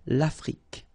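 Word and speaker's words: l'Afrique: thing here final uh it's only the k at the end that you will hear la frick okay america same thing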